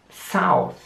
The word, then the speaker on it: south: Wieder wird das Wort mit einem TH geschrieben, aber wieder einmal wird es absichtlich gelispelt ausgesprochen. South. Wieder ist es extrem wichtig, die Zunge zwischen den Zähnen zu haben.